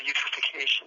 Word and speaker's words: eutrophication: They're all chemical based, but the one class is related to eutrophication.